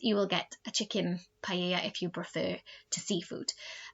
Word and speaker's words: paella: we would say la paella but it should be pronounced paella we know double l in spanish is a y sound so paella is a dish that's